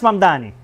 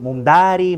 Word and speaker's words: Mamdani: Pronunciar mi apellido. Es Mamdani, pero a cada rato me dicen Mumdari, Mumnari.